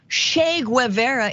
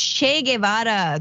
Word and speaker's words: Che Guevara: they're getting all uppity this is not Che Guevara it's Che Guevara just pronounced it correctly which by the way